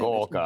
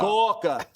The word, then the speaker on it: Gorka: That's actually how you pronounce his name. Gorka. Gorka.